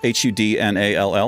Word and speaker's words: Hudnall: I used to think my last name, Hudnall, H-U-D-N-A-L-L, it's pronounced Hudnall.